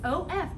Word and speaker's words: of: the spell of yes of great job and It's tricky because that F makes the V sound doesn't it great job yes it does it sounds like a UV doesn't it good all